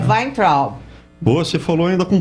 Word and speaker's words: Weintraub: E é Weintraub. Boa, você falou ainda com pronúncia do sul da Alemanha.